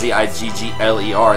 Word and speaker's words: Ziggler: I think with his name it's Ziggler. They spell it very literally.